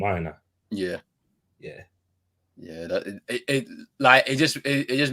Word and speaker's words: Aina: Is that how you pronounce his name, Aina?